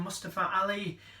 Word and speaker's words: Mustafa Ali: What a match that was with Mustafa Ali.